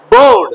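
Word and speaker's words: board: रोड बी ओ ए आर डी क्या पढ़ोगे बोर्ड बोर्ड एल ओ एन ई क्या पढ़ोगे नहीं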